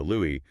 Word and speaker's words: Louis: host introduce his tracks, you are almost 100% guaranteed to hear Louisie Armstrong. It's just ubiquitous at this point. I mean, the culture has entirely settled on that pronunciation completely. Like, if you were at a trivia night and you confidently referred to him with a hard s, you know, Louie, someone would probably politely correct you.